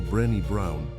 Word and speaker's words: Brené Brown: La investigadora Brené Brown, pronunciado Brenny Brown, de la Universidad de